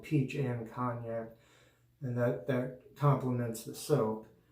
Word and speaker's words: Cognac: The, well, it says Aftershave Splash and Skin Food, the A&E Peach and Cognac. I'm sorry, I've been saying it wrong. Peach and Cognac.